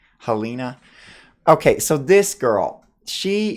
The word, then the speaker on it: Helena: this girl Helen Helena Helena how do you pronounce this name Halina okay so this girl she is the religious